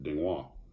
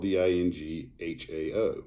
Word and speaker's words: Ding Hao: She goes, it's pronounced Dingwa.